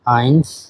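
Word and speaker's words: eins: 1 কে বলা হয় আইন্স।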